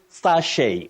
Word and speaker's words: sachet: You say sachet or sachet. Or sachet with a stress on the second syllable or at the onset. But what you avoid is sachet.